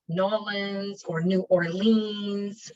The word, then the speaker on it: New Orleans: orleans um and it's new orleans not new orleans or new orleans it's new orleans if you want to sound more like a local um you'll be staying